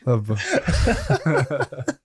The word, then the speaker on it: LOVB: It's a soft B. Love.